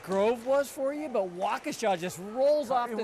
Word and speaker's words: Waukesha: Wakanisha? I don't know, I've heard so many variations You of were how to good pronounce with Waukesha, which no, was- I know